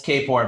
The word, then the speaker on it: Kapor: It's Kapor, but Mitch responds to both.